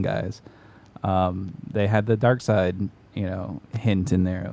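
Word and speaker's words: Darkseid: Justice League like versus dark seed you know in Infinity Wars sorry Dark Side well they spell it weird seid doesn't make sense yeah he he's dark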